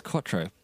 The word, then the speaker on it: quattro: I didn't know how you say it it's quattro.